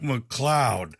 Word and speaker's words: MacLeod: already introduced to Doug McCloud and that word and his last name is spelled m-a-c-l-e-o-d that's right and his friends that